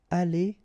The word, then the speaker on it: allée: The good thing, as usual in French, is you will pronounce it aller, aller, aller, and aller. So technically you don't pronounce the final e, you don't pronounce the final s, and you don't pronounce the final es.